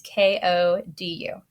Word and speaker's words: Kodu: All right, and the last thing I'm going to show you is a free download from Microsoft called Kodu. I think that's how you say it. It's Kodu.